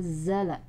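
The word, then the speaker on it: أنزل: Kemudian awas di sini za ya, za bukan ja, bukan jala tapi zala ya.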